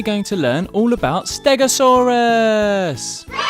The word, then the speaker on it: Stegosaurus: Today we're going to learn all about Stegosaurus! How do you say that again? Ste-go-saur-us.